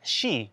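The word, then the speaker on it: 四: was the number four because in japanese it's pronounced she she as in she knew death exactly right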